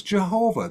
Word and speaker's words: Yahweh: name was really unclear a lot of people said the name was Yahweh but then again you have the actually the Latin pronunciation of this which came from the Greek and that was Jehovah that's where Jehovah comes from and then the sound